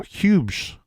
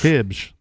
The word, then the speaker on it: Hibbs: Phillips was shot by Michael Hughes, I think is how you say his name. Hibbs. I'll try that. Hibbs. I looked it up, and that's how they told me to say that last name.